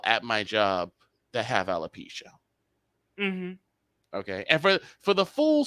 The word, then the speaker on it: alopecia: Yes, someone has actually mispronounced it and called it Appalachia. Someone called it Appalachia.